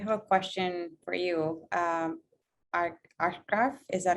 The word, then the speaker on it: Ashraf: Ashraf, is that how I pronounce it? Yeah, it's Ashraf.